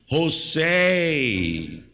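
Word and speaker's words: José: Ah, Jose. Now in America, you pronounce J as H.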